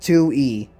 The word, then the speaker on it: Tui: It's pronounced Tui. Alright, so I got that right.